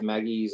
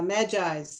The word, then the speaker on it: magi: the the magi yeah i always thought it was maggie's i didn't know how to pronounce it till now yeah magis at least in english that's how they refer to them as magis they were zoroastrians so